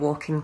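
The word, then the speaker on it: waulking: Now, it's not the kind of walking where you would walk down the street. Walking, which is spelled W-A-U-L-K, would have been a process that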